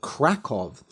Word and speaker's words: Kraków: about the city so for the rest of the episode I will be using the normal English pronunciation COV so the dragon of krackov this is a story